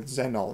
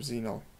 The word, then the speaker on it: Xenol: They go Zenol instead of Xenol.